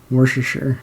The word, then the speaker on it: Worcestershire: Worcestershire. They do it right? Yeah. Okay, yeah. I can't pronounce anything.